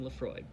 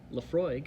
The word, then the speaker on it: Laphroaig: eyes and imagine the way the waves lapping Laphroaig the beautiful hollow by the broad bay so